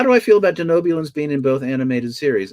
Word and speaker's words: Denobulan: one was how do you feel about the denans being in both animated series so you were first have to correct your pronunciation let's go back to so sorry denobulan denan oh this is my favorite thing to